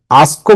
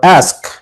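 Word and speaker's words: ask: আস্ক আস্ক মানে কি প্রশ্ন করো, এটাকে তুমি দুইভাবে উচ্চারণ করতে পারবে, আস্কও বলতে পারো, অ্যাস্কও বলতে পারো। ওকে, আস্ক অর অ্যাস্ক, প্রশ্ন করো, অ্যান্ড অ্যান্সার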